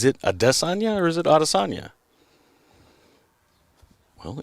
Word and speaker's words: Adesanya: Is it Adesanya or is it Adesanya? Well, Izzy clearly told everybody and continued to tell everybody it's Adesanya.